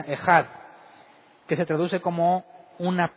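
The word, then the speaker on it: אחד: solo es ecaz bueno en hebreo se pronuncia ejad que se traduce como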